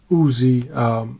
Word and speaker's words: Uzi: called it uz but I believe the proper pronunciation is Uzi after the creator of one of the most